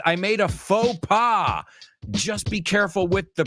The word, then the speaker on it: faux pas: is over here H says I made a faux just be careful with the pronunciation it's not faux pass it's F so I made a fa we